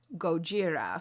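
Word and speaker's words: ゴジラ: the king of monsters name in Japanese is pronounced Gojira right it's g-o-j-i-r-a because of course when the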